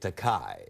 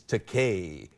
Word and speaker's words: Takei: Yeah, but he kept pronouncing it Takei. Right. And I kept correcting him. I couldn't get it into his noggins. Right. So I thought I'd give him a way to rhyme that would stick with his head. Easy for him to remember, yeah. I told him, Bill, it's Takei, just like your toupee. Rhymes with toupee.